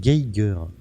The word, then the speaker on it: Geiger: Là, faut le prononcer Geiger. Le nom Geiger. de son- ouais. Le nom Ah de oui, son c'est allemand. inventeur allemand. Donc c'est Geiger.